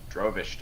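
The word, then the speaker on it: Drovash: word was or it's D R O V A S H. Drovish, dude. Rish. Easy to remember. Rhymes with groish.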